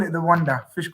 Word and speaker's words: Wanda: What's it Wanda. Wanda. Oh, is it easy as that? Wanda, yeah. Okay, I was getting all wrong. Wanda Metropolitano. But, yeah, we call it the Wanda.